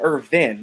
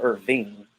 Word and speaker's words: Irvin: Michael, no, it's not Michael It's Michael Irvin, not Michael Irving. It's like my name. My name is Irvin, but it's spelled with an E, not an I. But Michael Irvin is without the G.